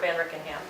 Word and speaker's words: Van Rickenham: So he would like the council to approve the hiring of Kurt Van Rickenham. Is that how you pronounce it?